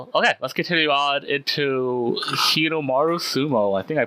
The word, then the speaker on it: Hinomaru Sumo: Okay, let's continue on into Hinomaru Sumo. I think I pronounced that correctly.